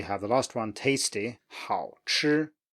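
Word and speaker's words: 好吃: And then we have the last one, tasty, 好吃, 好吃.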